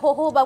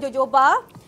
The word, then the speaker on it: jojoba: So, korang kenalah macam sebut elok sikit, jojoba, okay. Macam-macam kalau sana tu, sebutan dia adalah jojoba, bukan jojoba.